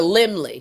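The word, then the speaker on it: Laemmle: Oh, it's the Limley.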